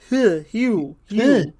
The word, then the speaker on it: Hugh: There's a G in his name. Yeah, also, G-H. Mac is totally right. That's pronounced Hugh.